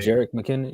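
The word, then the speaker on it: Jerick McKinnon: Maybe you pronounce his name. Jarek McKinnon.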